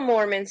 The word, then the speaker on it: Moorman: So we're actually going to talk about, hey, Andrea, Mom, Kyle Moorman's case.